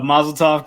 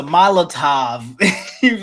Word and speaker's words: Molotov: but I was no it's a Molotov I said you feel me I've been saying it wrong the whole time yeah completely different word